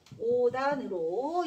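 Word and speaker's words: 옷 안: 그래서 시옷의 대표음이 디귿이라고 했으니까 얘는 5단으로 이렇게 발음이 돼야 되는 거야.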